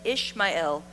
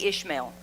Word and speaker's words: Ishmael: We say Ishmael, but it's actually pronounced Ishmael because the L part in Ishmael means God, the Lord. It means the Lord. So the name Ishmael uses the divine name El, which means God hears.